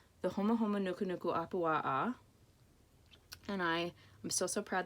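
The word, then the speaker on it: Humuhumunukunukuāpuaʻa: This is a Hawaiian fish called the Homa Homa Nuku Nuku Apua'a.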